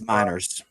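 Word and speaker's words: Meinerz: in the chat had said they think it's pronounced miners it's miners miners okay thank y'all for clearing that up for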